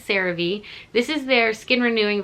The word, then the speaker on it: CeraVe: gonna be using the i think they pronounce it sarah v i don't know i've always said survey but i guess it's cerave this is their skin